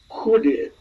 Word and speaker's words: Chudy: It's Chudy. Hoodie, yes. Hoodie. Ah, of course. Hoodie. And that's the Eastern European origins of hoodie.